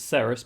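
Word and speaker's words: Cerys: They pronounce it Ceres, but Keris works.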